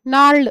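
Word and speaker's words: gnarled: bent है curved है नाड है इसमें जी साइलेंट है नार्ड ठीक है जो एडमिरेबल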